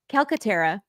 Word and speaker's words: Calcaterra: calcatera Catera how do you how should we pronounce that actually calcatera calcatera Lori right the first time there you